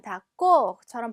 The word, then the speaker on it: d'accord: 자, 이 단어는 보시면 마찬가지로 오가 들어가 있지만 d'accord처럼 발음하는 게 아니라 마치 어처럼 발음해 주셔야 되죠.